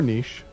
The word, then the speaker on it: niche: out such a significant niche for itself or niche pronounce it either way yeah you know occasionally